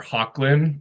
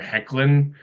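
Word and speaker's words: Hoechlin: before in real life I was going to say Tyler hawlin but it's a it's a soft o hard e it's Tyler heckin um also known as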